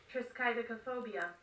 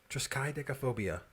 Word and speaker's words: triskaidekaphobia: i wonder if this is against the rules triskaidokophobia triskai she's got a really sky deck of phobias phonetically it doesn't sound like that so i don't know phobia triskaidekaphobia really triskaidekaphobia i thought it was triska that's